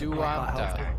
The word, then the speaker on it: Duamta: That's Duamta. What's it called? Landing gear. It's spelled D-U-A-M-T-A.